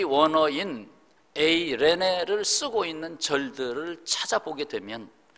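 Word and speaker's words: εἰρήνη: 에이레네는 좀 많이 표현을 안 해서 생소하시죠? 한번 따라서 해보시죠. 에이레네. 영어의 A자로 그냥 발음을 시작하면 됩니다. 에이레네. 레자에 악센트가 있어요.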